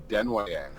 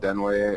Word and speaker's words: Denwayang: Denwayang. Wow, I was so far off. Also, yeah, it's a tough one, dude. It's French, so you can pronounce it Denway or Dinway.